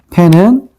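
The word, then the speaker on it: פ: 그래서 패는 요렇게 쓴다라는 기억하시고 패라고 읽고요. 숫자 값은 몇일까요?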